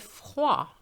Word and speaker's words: froid: Il fait froid. Il fait froid. The D is silent here as well.